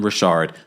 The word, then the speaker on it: Richard: As someone that has spoken and interviewed Dawn Rashard multiple times, that is the way you pronounce her last name.